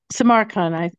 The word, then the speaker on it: Samarkand: The name of the town that you set the book in is called Samarkand. How do you say it? Samarkand.